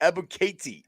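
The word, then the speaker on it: Ebiketie: I can find the phonetic pronunciation if you want me to. Oh my goodness. Ebukati. Ebukati.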